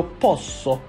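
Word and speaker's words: posso: یو پوسو. یو پوسو یعنی من میتوانم. ببینید اینجا چون به صورت دوبل اس در واقع هست باید به صورت مشدد تلفظ کنیم اس رو.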